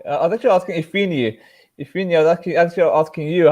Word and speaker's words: Ifeanyi: Well, it's pronounced Ifeanyi. Oh, Ifeanyi. You Ifeanyi, stress the sorry. A.